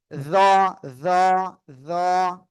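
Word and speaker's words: ظ: জিহ্বার আগা, সামনের উপরে দুই দাঁতের আগায় লাগিয়ে মোটা আওয়াজে উচ্চারণ করব। জ, জ, জ, এভাবে।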